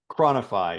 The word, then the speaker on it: ChroniFI: CronFi? ChroniFI, yeah.